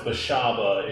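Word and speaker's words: Beshaba: like well actually it's it's pronounced bashaba is the other one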